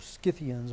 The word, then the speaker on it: Scythians: They were famous, and I've told you this more than once, they were famous, these Scythians, or Scythians more properly pronounced, for being able to